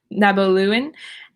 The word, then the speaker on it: Nabaloon: um again i'm like how do i pronounce my own word um nabaloon like nabaloons yes you would say it like that so you're not wrong all right we're gonna